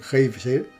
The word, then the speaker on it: Geysir: El geyser, palabra que los islandeses pronuncian Geysir y que significa furor, se levanta majestuosamente en su extremo.